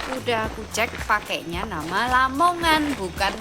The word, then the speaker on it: Lamongan: aku cek pakainya nama Lamongan, bukan Lemongan. Tapi ada dugaan bahwa namanya berubah jadi lemongan karena penyesuaian dengan pelafalan lokal dan itu wajar terjadi.